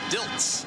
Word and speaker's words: Diltz: a nice throw it's dils not DZ Jeff diltz the reserve tight end with that catch it's an easy mistake just a mispronunciation not even the vaguest